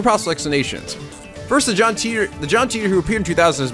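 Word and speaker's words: Titor: Also, you guys said it, I think it's pronounced John Teeter, which I knew was like, it was either Titter or Teeter. So Teeter. Makes sense.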